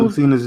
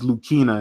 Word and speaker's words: Lucina: characters in there um I've been saying lucina's name wrong the whole time it's lukina not Lucina oh is lukina yeah everybody been saying it wrong nigg everybody's been saying it wrong her name is lukina like I feel like an